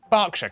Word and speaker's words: Berkshire: ER is pronounced R. Berkshire, Clerkenwell, Hertfordshire.